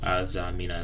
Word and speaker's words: Azamina: When I first started TCG, I was playing Tenpai over borrowed my homie's Palo deck for locals too, but Azamina is how you pronounce it.